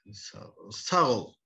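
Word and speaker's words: Sağ ol: Goodbye, Saul.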